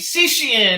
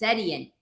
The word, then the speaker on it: Setian: show with Ryan Russell gato and Anna heat sushiyan how'd I do hi so he's got all the Heat's name is pronounced setian I messed up the last name okay that's